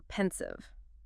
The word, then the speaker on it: pensive: Okay, now for pensive. Pensive. Pensive. 2 syllables, stress on the first.